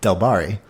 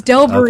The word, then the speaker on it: Delbarys: Oh, I've been pronouncing that wrong. Okay. How have you been saying it? Delbari. No, it's Delbury.